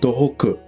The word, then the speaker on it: Dohoku: Northern Hokkaido is called Tohoku. It's pronounced similar to Tohoku, north of Tokyo, but it's different.